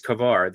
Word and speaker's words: Kavar: Duarte is saying it's Kavar. The L is the LOL. The R is not silent.